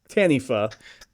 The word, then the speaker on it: Taniwha: It's Maori, so it's Taniwha. WH. Weird that the pronunciation I'm most confident in is the Maori one.